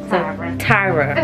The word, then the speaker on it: Tyra: here with my girl i don't want to say your name wrong tyra okay because i called her tara cause i had you